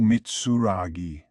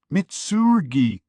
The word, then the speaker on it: Mitsurugi: looked oddly familiar oh mitsui I said long time no sea it's mitsurugi are you getting my name wrong on purpose You' think you could